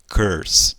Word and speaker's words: curse: Esse ezinho aí, ele não é pronunciado em inglês, então ele vai embora. Então, a pronúncia seria o quê? Curse, tá? Não fale curse, fale curse. Acaba com S, curse, tá?